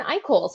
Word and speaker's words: Eichholz: lesie Perry with me today I have iol vice president with byright and I didn't checked before we started recording that is the correct pronunciation of that is yeah I call that's my name yeah you did good my